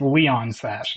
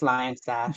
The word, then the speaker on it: Lion Sash: I've heard some people pronounce this as Leon Sash, and I'm like, I don't. No, it's Lion Sash. This is a lion, bro.